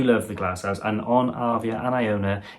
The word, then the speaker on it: Arvia: synopsis concludes the complimentary dining offerings onboard piano arvia that's how you say it and now we're